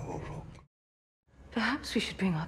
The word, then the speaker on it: Uruk: You're saying it wrong. It's Uruk. We prefer Uruk.